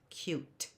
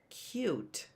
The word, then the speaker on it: cute: does that end with cute t but actually there's an e on the end of that word because if it didn't they have an e you know what the word would be cut cute has an e on